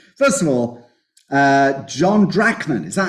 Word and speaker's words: Drachman: all carried away first of all uh John drachman is that how your name's pronounced yeah and do just tell me you'll